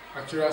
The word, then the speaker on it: actuarial: What is actuarial science all about? Or at least you need to have an idea of it before you take your decision. Remember the spelling. A-C-T-U-A-R-I-A-L, and it is pronounced actuaria. Actuaria.